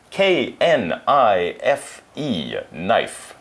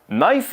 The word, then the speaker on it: knife: word we spell it k n I fe9 knife is one of those strange English words with a silent K at the beginning we don't say can